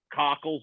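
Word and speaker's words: Kakko: But they've been it's exciting to watch a young line, Cockle's line.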